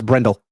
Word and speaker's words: Brendel: pronounce last names incorrectly I think brindell is it brindell or brindle I don't even no it's brindle brindle okay you know I'm probably still gonna go with brendell just so you guys know